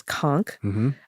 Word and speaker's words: conch: So, a conchk, you know, it looks like conch written out, but the pronunciation is conchk.